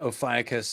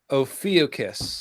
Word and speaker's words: Ophiuchus: Maybe the PH is not an F sound. Maybe that's why. Do you have any idea, Emma? Not the foggiest, I'm afraid. Greek pronunciation is not my. Ophiuchus.